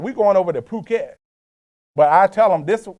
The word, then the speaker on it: Phuket: so I'd be like we're going over to Phuket but I tell them this this way I